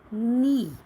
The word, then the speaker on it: knee: The joint of the leg is called knee, KNEE, knee. Here the sound of a K is silent. You will write KNEE, knee. But in spoken it's knee, not knee.